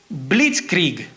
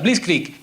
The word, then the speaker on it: Blitzkrieg: no me cuesta pronunciar pero es blitzkrieg así se pronuncia please click que literalmente traducido significa